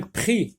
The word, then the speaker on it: prix: Un prix, X ne se prononce pas, j'entoure.